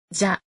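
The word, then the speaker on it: じゃ: About this, de wa, part. In casual conversation, this part is often pronounced like this. じゃ。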